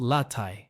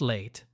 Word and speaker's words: latte: And latte is pronounced latte, not late.